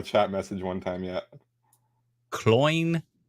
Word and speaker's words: Cloyne: Yeah, Cloyne. It's like coin. Oh, it's like coin. Yep. How do I not remember these things? I remember that from a chat message one time. Yeah. Cloyne, like coin.